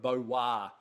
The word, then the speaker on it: Beauroy: but 2014 identify munitia Blee premier cru of bo wah this is been a premier cru line this